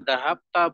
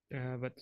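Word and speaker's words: ذهبت: Jadi itu bukan dahapta, bukan dahaptu, tapi apa? Bacanya tadi, Diana, Dahabat. dahabat.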